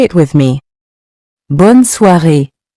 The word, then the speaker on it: bonne soirée: Continuing with bonne soirée. It means have a good evening, and it's used when you leave someone in the evening. Say it with me. Bonne soirée. Bonne soirée.